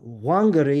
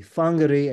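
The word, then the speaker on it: Whangārei: with a wh uh that wh is pronounced as an F so toari is actually tarui uh wangari is actually fangar and I'm not to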